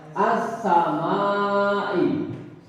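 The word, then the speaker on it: السماء: Terus contoh lagi berikutnya as-samai. As-samai, alif lamnya tidak terbaca, disebut as-samai.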